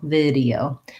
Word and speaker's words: video: So Luis wants to know the word video, first syllable stress, and vowel, lax vowel, and then we have a tense E and diphthong O, EO, video.